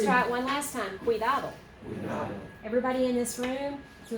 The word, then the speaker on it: cuidado: this we so there it is qui Oh cuidado cuidado okay let's try it one last time cuidado everybody in this room who is a native